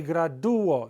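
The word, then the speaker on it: gradúo: It's not me graduo, like the word gradual, where it runs together, gradual. Me graduo. You hear that? U-o. It's not one, it's two.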